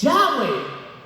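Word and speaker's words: Yahweh: Pero, ¿cómo se pronuncia esas cuatro letras? ¿Qué es Yahweeh? Es el sonido de la respiración.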